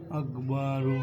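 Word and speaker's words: أكبر: জবর বা আকবা র পেশ রু আকবারু আকবারু আকবারু আকবারু তাহলে এইখানে আকবারু হবে না যদি আমরা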